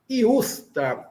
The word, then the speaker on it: justa: Iusta. Iusta. I tem um som fraquinho, né? É o i fraquinho.